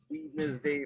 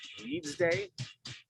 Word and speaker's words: Weednesday: You're supposed to say Weeds Day, like Wednesday. Because nobody says Wednesday. Why would you say Weedness Day?